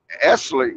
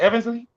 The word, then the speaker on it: Eversley: Because one of the last reports we heard from Mark Esley, how you say his name again? Oh, Mark Eversley? Yeah, Eversley, yeah.